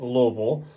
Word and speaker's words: Louisville: That's definitely how you say it, Louisville.